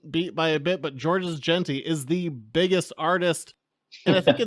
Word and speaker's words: Georges Jeanty: We are joined by main series artist Georges Jeanty, going through the credits of everyone, including television and comics. Georges, am I pronouncing your name right?